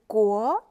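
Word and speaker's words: 國: The traditional characters is pronounced as guo and is composed by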